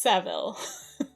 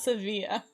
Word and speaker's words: Seville: to mrs seville england i want to pronounce it in the french way because i speak french but it's just seville it's not sevilla archangel 28 march 17